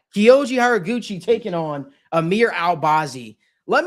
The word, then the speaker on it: Horiguchi: We've got Kyoji Horiguchi taking on, yes, yeah, I pronounced the name right. Kyoji Horiguchi taking on Amir Albazi.